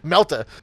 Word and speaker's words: melta: now so fast you can't pronounce the r in melter true I got no time for that yeah melta I've got to slag